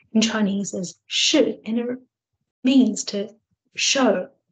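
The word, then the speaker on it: 示: It's pronounced in Chinese as shi, and it means to show, to reveal, or to guide.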